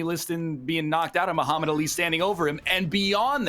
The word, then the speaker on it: Muhammad Ali: hero of the event keep saying Muhammad Ali yeah as if it's like one word but it's - how do you say it's what it Muhammad Ali yeah Muhammad Ali Muhammad Ali the cadence like the the emphasis is on the lean not the you're going right through the syllables as if there's never a break between them yeah yeah I'm sorry